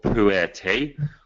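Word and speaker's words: pu-erh: it's a type tea called poo a te which sounds a bit strange and people honestly Emil you're saying is this poo in an actual tea bag but it's spelled nothing like that so um people don't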